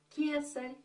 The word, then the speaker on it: кесарь: А слово «цесарь» восходит к имени императора Юлия Цезаря, который в классическом греческом произношении имеет «к». Вот этот старый звук «кесарь».